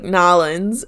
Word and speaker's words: New Orleans: face and i know the locals call it like nollens or something like that why are you making a face i'll tell you later no no just say it my place was new orleans damn it okay how